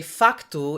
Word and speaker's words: facto: were meant to be writing phatu like they do in Brazil or when we would say facto in Portugal according to the new